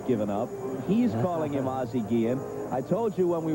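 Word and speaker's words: Ozzie Guillén: to be a purist I know the prop pronunciation is azi Gan and I'm going with you on this but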